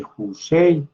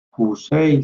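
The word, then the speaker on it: Houssay: la fisiología humana de Jusei. Fisiología humana de Jusei. Se escribe con H.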